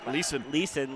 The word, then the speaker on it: Leeson: How do you say that? Leeson.